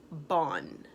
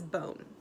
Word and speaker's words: bone: mmm n good job with a silent e because if I don't have that e even if it doesn't sound like anything this word says bond it would be a short o sound but bond isn't a word so I'm gonna put my look the silent E and now it says bone alrighty so let's go